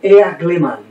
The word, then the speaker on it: Eagleman: El autor, David Eagleman, o Eagleman, pronunciado tal como está escrito en inglés.